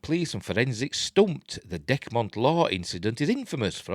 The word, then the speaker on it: Dechmont: Is it Decmont or Dechmont? I say Decmont.